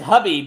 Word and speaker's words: Khabib: Habib or Habib? It's Habib, but it's spelled like Khabib.